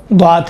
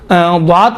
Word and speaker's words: ضاد: ہے، وہ ضاد ہے۔ ضاد کا تلفظ دیکھیں، تصور کریں ہم اوائل میں جب پڑھتے تھے یا صوت لحن میں جب کام کرتے تھے، عبد الباسط جب تلفظ کرتے تھے ہم کہتے تھے یہ تو غلط تلفظ کرتا ہے، دال کا تلفظ کرتا ہے، حالانکہ اس کا تلفظ صحیح تھا۔ وہ قاری ہے، مشہور